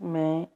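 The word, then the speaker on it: میں: I is मैं in Urdu language. मैं, N is silent.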